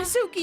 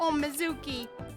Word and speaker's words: Mizuki: stuff whoa go away away oh no no Sookie you said it wrong no Mizuki you really shouldn't say that throw those boys